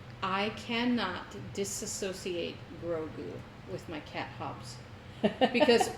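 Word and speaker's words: Grogu: I always trying to say his name Grou, but it's Grou.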